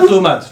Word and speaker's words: tomate: le pain à la tomate tu peux répéter pareil en fait le E on le prononce pas tomate tomate la tomate une phrase